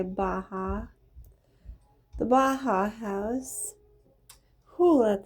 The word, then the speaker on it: Baha'i: The temple called, we'll just say Baha. The Baha House. Who let the dogs out? The Baha House of Worship. Baha'i, thank you. Oh yeah, say Baha'i.